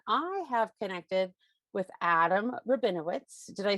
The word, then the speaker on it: Rabinowitz: in film and i have connected with adam rabinowitz did i say that right adam you said